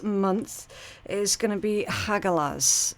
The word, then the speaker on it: Hagalaz: Now, your rune message for this month is going to be Hagalaz, okay, or Haga, depending on how it's being pronounced. Both are correct.